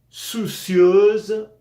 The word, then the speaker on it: soucieuse: Soucieuse, soucieuse, soucieux. La S entre dos vocales suena z. Sonido U, cieuse.